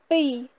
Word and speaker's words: ពីរ: Et 2 se prononce pays, pays, pays. Donc là on a un ro, mais il n'intervient pas en fait dans la prononciation de pays.